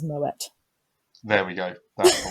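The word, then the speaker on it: Moët: It's not pronounced Moe. It's pronounced Moet.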